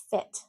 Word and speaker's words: fit: Fit, fit, feet, fit, feet. Now, why is this important in business English? You want to tell a client you're going to fit him into your schedule? Can you fit me into your schedule next week? What? Why are you talking about feet in business English?